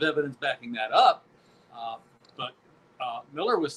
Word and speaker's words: Millar: Um, Mark Miller, and it is Miller, not Millar, no matter how he wants to spell it, had an interesting prediction